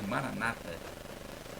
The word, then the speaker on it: Maranata: O que é e os protestantes de de Maranata com a tônica na penúltima sílaba os católicos pronunciam com a tônica na última sílaba Maracatu traz o significado